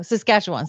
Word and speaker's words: Saskatchewan: Saskatchewan.